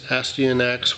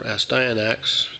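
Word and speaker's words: Astyanax: is odd uh here's astin x or asda and x depending on who you here pronounce it there was an arcade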